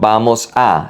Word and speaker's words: vamos a: Vamos a, not vamos a, it's vamos a.